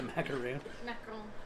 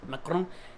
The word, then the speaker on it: macaron: Is it a macaroon? Macaron. Where's Colette when you need her to pronounce French stuff?